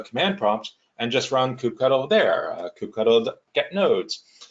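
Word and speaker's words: kubectl: prompt and just run cou cuddle there Cupido get nodes looks like I've chosen coop cuddle is the right way to say it so now I see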